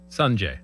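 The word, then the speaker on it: Sungjae: I did not want to try to pronounce Im's first name and botch it. Sanjay M. Yeah, it's easy. Sanjay.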